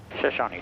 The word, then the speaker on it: Shoshone: And yes, that is how you pronounce it. We confirmed it with the locals. Shashani. Traffic one enter three man hotel 6 miles to the south descending through 3,200 for straight in 33. Shashony.